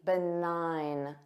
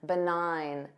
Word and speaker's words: benign: at least number 13 the nine notice that s silent G benign nine benign this means having no